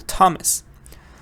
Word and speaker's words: Thomas: have the test sound sometimes th is not a fe it's a te for example Thomas or or Thailand yeah it's a th but it's a te Thailand Thailand um for D also